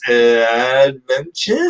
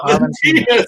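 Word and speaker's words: Aventinus: I don't know how to pronounce the name of the thing, but it's Adventures? Aventinas. Aventinas, yeah.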